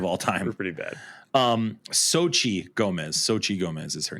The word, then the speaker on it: Xochitl: Here on the Infinity Bros podcast, we are the worst pronouncers of all time. We're pretty bad. Xochitl Gomez is her name.